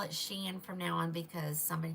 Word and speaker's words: Shein: I'm only going to call it Shein from now on because somebody told me that's the correct pronunciation.